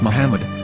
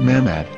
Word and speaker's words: Muhammad: a after the h according to ben yehuda's hebrew english dictionary it is correctly pronounced as muhammad not mahmad so how we're going